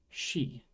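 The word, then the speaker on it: し: k c but no Japanese doesn't have the C Sound instead we get she this is she interesting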